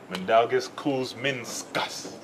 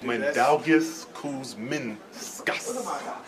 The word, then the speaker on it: Mindaugas Kuzminskas: Hold on, one more time. Mandalgus. Kuz. Min. Min. Skus. Skus. Mandalgus Kuzminskus. Ah, see, I got you. I'll never call you that, Kuz. Mandalgus Kuzminskus.